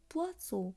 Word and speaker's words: poisson: যেমন POISSON, এই পাশাপাশি অবস্থিত দুটি এসের অংশটি উচ্চারণ হবে স এর ন্যায়। পোয়াসো।